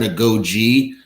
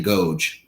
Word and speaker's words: agoge: went through I think I said a Goji I believe the actual correct pronunciation is the agoge but who who knows